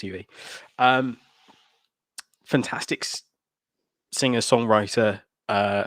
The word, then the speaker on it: YUI: star next by yui is it pronounced you ue it is pronounced uv um fantastic singer songwriter